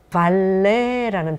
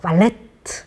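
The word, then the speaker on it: valet: 근데 발레트 아니면 발렛이라고 받침을 써서 흔히 한국에서 표현하는 거는 조금 잘못된 거라고 프랑스 발음에 그런 일을 하는 서비스를 제공하는 사람 얘기를 할 때는 발레 해야 되고 또 V 발음을 굳이 안 한다면 그냥 발레 해야지 발음 발레트라든가 발렛 하면은 틀렸다는 거 이게 말씀드리겠습니다.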